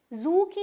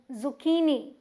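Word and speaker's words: zucchini: कहां दे रहे हैं देखिए की पे जू की नहीं नो जुचीनी और ये कुमड़े जैसी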